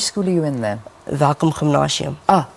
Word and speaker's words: Welkom-Gimnasium: Welkom-Gimnasium. Gymnasium. I said it wrong. So it's Yes. Welkom-Gimnasium.